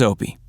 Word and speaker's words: Opie: a lot of jokes opie rhymes with dopey so it wasn't long